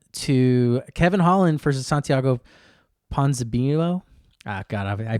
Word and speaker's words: Ponzinibbio: Moving on to Kevin Holland versus Santiago Ponzinibbio. Ah, God, I butchered that name so bad. Ponzinibbio?